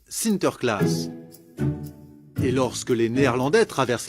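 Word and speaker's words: Sinterklaas: des cadeaux aux enfants aux pays bas saint nicolas se prononcent sinter klaas et lorsque les néerlandais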